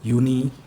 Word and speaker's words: Juni: Nah, terus jangan lupa yang semua yang dimulai dengan J pokoknya huruf J itu dibacain jadi Y. Yanar, Juli, Juni.